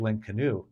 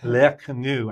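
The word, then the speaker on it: l'Inconnu: wrote was mystery of link canoe um or I'm pronouncing it wrong. I don't have the correct French. Le canu I think is how it's is properly uh pronounced which means mystery of the unknown.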